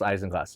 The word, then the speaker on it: isinglass: It's spelled Isinglass, but it's pronounced Isinglass.